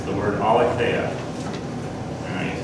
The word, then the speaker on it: aletheia: of the English spelling, but it's the word aletheia.